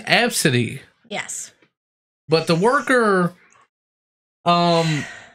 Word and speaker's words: Abcde: for people that don't know the name it's pronounced f City yes but the worker dig he was pretty